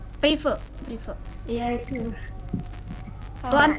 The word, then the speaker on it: prive: Berarti yang di debit itu yang kas, yang di kredit itu yang private itu bacanya Kak. Prive.